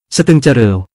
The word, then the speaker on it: สตึงเจฺริว: เมือง คลองลึก คลองคือ สตึง คำว่า ลึก คือ เจฺริว คำออกเสียงว่า สตึงเจฺริว หมายถึงคลองลึก ก็คงจะหายสงสัยเสียที ในข้อมูลว่า ชื่อนี้เพิ่งตั้งขึ้นใหม่ ไม่น่าจะมาจากภาษาเขมร นั่นเป็นสิ่งถูกต้องแล้ว เพราะคำนี้เป็นภาษาขอม สรุปอีกทีว่ามาจากภาษาขอมแน่นอน